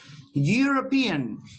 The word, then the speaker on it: European: a letter e no the rule here applies to pronunciation do you start this word with a consonants oh please your microphones don't forget to turn off your microphones European you starts with that you start with the consonant yeah yeah you you